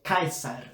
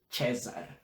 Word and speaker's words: Caesar: A gente vai ver por que é Cícero e não Cícero, e é Caesar ao invés de César.